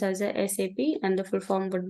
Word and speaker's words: SAP: like sap or something you have to always pronounce as a sap and the full form would be system application